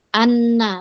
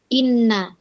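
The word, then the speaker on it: أنّ: Oleh karena itu dibacanya anna bukan inna.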